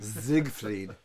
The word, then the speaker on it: Siegfried: see we'll say that first word again siegfried zigfried let me let me say it correctly zigfried